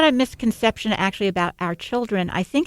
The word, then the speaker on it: Hour Children: name come from so a lot of people when I say our children they think of o r but our our name is spelled h o r and it it is